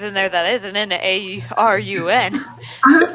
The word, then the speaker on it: Arun: Arun Leora, pleasure to meet you. How do you spell that? A-R-U-N. What? A-R-U-N. Thank you, Aaron. Weird way of saying Aaron, but you know, Aaron.